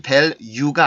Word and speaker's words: value: 근데 힘이 주체가 안 되니까 여기까지 영향을 줘서 이 발음이 마치 value가 아니라 류처럼 발음을 해주는 거예요.